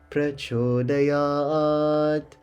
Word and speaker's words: Prachodayat: So we'll say Prachodayat. And with that T coming to an end, we're going to say the T sound at the end.